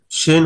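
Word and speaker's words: شين: তোমরা বাম পাশের চিত্রে দেখতে পাচ্ছ শিন হরফ উচ্চারণের স্থান হচ্ছে জিহ্বার মাঝখান ও তার বরাবর উপরে তালুর সাথে লাগে স্পষ্ট শেষ ধ্বনি সহ উচ্চারিত হবে শিন।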